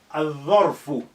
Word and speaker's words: الظرف: Dharfun, again, Dha is a sun letter. Al-Dharfu. Al-Dharfu. الظرف. We have الظرف. Here we remove the sukun from the lam.